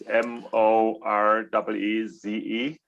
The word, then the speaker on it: Maurice: It's spelled a bit funny. It's Moreeze.